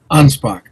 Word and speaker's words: Anspach: Anspach. Anspach. Okay, not a ch at the end. It's a K.